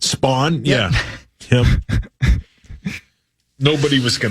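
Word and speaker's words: Span: By the way, S P A N. That's how you spell that. Spawn.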